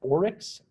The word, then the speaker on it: Oryx: this project called microsoft i think it's pronounced oryx o-r-y-x um don't quote me on that never heard it's pronounced out